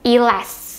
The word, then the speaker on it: E'LAST: Kpop kalian tahu enggak elast Harusnya kayak gitu bacanya aku suka k-pop ini